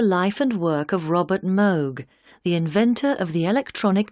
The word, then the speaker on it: Moog: and record although the Moog synthesizer the word rhymes with vogue not fugue has had its greatest